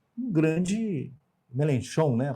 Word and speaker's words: Mélenchon: Então nós temos aí, e veja, o vencedor das eleições, o Mélenchon, ele não é um grande Mélenchon, né, a pronúncia? Mélenchon.